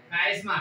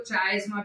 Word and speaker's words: chiasma: देखो कोई लोग इसको चायस्मा भी कहते हैं, तुम्हारे पे तुमको क्या प्रोनाउंस करना है, स्पेलिंग याद रखो बस, ठीक है? जो तुमको याद रहता है। मेरे को कायस्मा समझता है तो मैं कायस्मा बोलूंगा उसको, ठीक है?